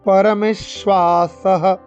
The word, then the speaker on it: পরমেশ্বাসঃ: কাশ্যশ্চ এখানে কোনো দীর্ঘস্বরের টান নেই, পরমে মেতে টান, পরমেশ্বাসঃ পরমেশ্বাসঃ পরমে শ্বা তালিব্য সবাই শ্বা এরকম উচ্চারণ করতে হবে। শ্বা সহ স দন্ত্য স এবং পরে বিসর্গের পরে হ করে উচ্চারণ করতে হবে সহ।